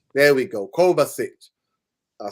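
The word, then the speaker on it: Kovačić: Kovacic. There we go. Kovacic.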